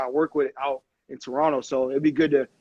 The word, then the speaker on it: Toronto: See, people who don't know, people who aren't from the city always pronounce the last T, Toronto. And we just we skip over. It's like Toronto. It's like an extra N or something there at the end.